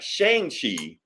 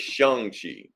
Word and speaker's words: Shang-Chi: lie you know so it's not Shang Chi it's shangi we've been saying it wrong the whole time that's how they're going